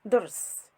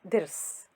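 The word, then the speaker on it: ضرس: It is pronounced durs, not dirs.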